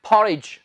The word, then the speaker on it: porridge: खाने की इंग्लिश ईट, और हमने पढ़ा था जी दलिए की इंग्लिश पहले भी हमने पढ़ी है पॉरेज, PORRIDGE। इसमें आपने डी नहीं बोलनी, तो ये है पॉरेज।